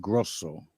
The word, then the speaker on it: Grosso: Grosso. Actually, if I was over in Italy, it would be pronounced Grosso.